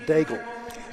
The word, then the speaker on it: Daigle: Canada Daniel and Martin Diego two sharpshooters see I pronounce that Daigle Daigle is the right pronunciation oh yes just like